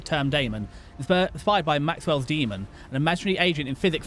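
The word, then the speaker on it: daemon: It's written Damon but pronounced demon.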